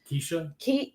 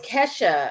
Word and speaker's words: Kesha: Keisha? It was Kesha.